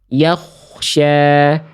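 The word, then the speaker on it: يخشى: Dia ada yang bilang bibirnya cemberut. Yakh yakh tapi enggak enggak boleh monyong juga. Yakh yakhsya yakhsya. Yaksya ya. Tapi yak y enggak yak enggak senyum juga ya. Yak enggak juga yakya. Jadi bibirnya biasa aja jangan disenyumin jangan dimuncungkan ya.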